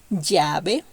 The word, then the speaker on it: llave: Double L in this case is a strong Y. I have listened a lot of people speaking Spanish, foreigners speaking Spanish, that these letters pronounce it like you will pronounce yellow or yawn. No, in Spanish we have to make it strong.